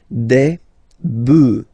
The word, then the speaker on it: bœufs: just add this S, but then pronunciation changes quite much, because you get des bœufs, alright, un bœuf, des bœufs, alright.